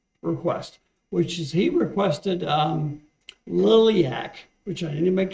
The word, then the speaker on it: Liliac: It's not lilac, it's a Liliac. They spell it out phonetically, and I get that.